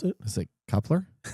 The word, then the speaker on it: Kuiper: How do you pronounce it? Is it Kuiper? Kuiper.